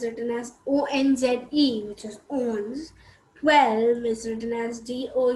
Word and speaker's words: onze: 20 11 is written as onze which is owns 12 is written as or you said e